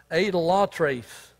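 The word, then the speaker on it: εἰδωλολάτρης: a greek word well let's pronounce it right a the law trace we get our english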